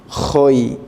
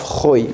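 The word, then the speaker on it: خۆی: This is the pronunciation of khoyi. We say that kh is here because we do not have kh in English. We have to pronounce and we have to represent by this letter.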